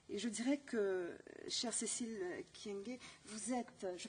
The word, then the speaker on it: Cécile Kyenge: Et je dirais que, chère Cécile Kyenge, vous êtes, je prononce bien votre nom?